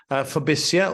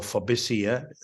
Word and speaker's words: FOBISIA: Fobisia, or Fobisia, two ways to pronounce it, stands for the Federation of British International Schools in Asia.